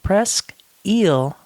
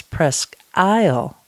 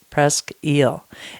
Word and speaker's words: Presque Isle: Presque eel Farm cider now if you saw the name of this cidery out there in the world you might want to pronounce it as Presque Isle Farm cider but the locals for the locals it is Presque eel and we're going